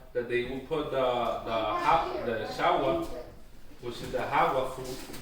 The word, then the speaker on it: jagua: This is the way how you pronounce it Shawa. This is how our ancestors used to pronounce it, Shawa.